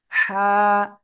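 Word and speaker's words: حاء: ওকে, আমরা তার আগে যে অক্ষরটা শিখেছিলাম এই অক্ষরটা হা। হা। আমার কিন্তু মনে হচ্ছে আপনাদের একটা শীষ হচ্ছে, কিন্তু শীষ দেওয়া যাবে না কিন্তু, হ্যাঁ। গলাটা চেপে হালকা বাতাস বের করে উচ্চারণ করতে হবে।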